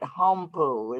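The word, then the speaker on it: Haumpo: it was spelled and we pronounced it humpo in english h-a-u-m-p-o and now everybody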